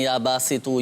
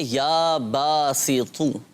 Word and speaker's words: یا باسط: چیز قابل غور ہے، اب تو اور تا دونوں میں فرق کرنا ہے۔ یا باسطو، اب یہاں پر تو ہے، اب ہوتا ہے بعض اوقات جن کے تلفظ درست نہیں ہوتے، تو کی جگہ تا پڑھ لیتے ہیں، یا باسطو یا باسطو یا باسطو، یہ غلط ہو جائے گا۔ پڑھیں گے یا باسطو، تو حروف مستعلیہ میں سے ہے اور اس کو پر پڑھنا ہے، موٹا کر کے پڑھنا ہے۔ تو کوئی بھی وظیفہ